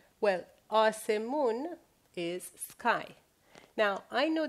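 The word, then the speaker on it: آسمان: So this is A, this is the letter S, the sound S. This is me, this is U, and this is N. Well, asemun is sky.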